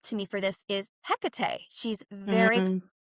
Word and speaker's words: Hecate: The goddess that does come up to me for this is Hecate. She's very These days you can say her name lots of ways. I usually say Hecate, but she is the